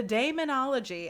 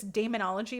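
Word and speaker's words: Daemonologie: So, he wrote the demonology. I say Damon because it's like demon, but it's spelled D A E. M O N O L O G I E.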